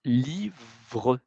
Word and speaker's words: livre: Así que le E, a menudo no se pronuncia cuando acaba una palabra, o también la lettre